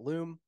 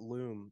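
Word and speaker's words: Lume: I actually don't know if that's how it's pronounced, but it's L-U-M-E, so I'm going to call it Loom.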